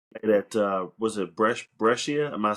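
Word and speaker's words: Brescia: Played at uh was it Brussia? Am I saying it right? Brussia.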